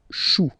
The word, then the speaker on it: choux: Then, un chou, okay, remember, when you combine this C and H, you get the sound sh. Chou, un chou, pluriel, des choux.